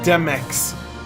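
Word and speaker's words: Demyx: It's pronounced Demex.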